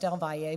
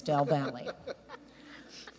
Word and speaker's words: del Valle: ISD is bilingual and yes I know it's pronounced del VA but it was actually settled by Germans and it's called del Valle so when we go to bilingual conferences they get very upset with us we know how it's pronounced but it's del Valle it long before I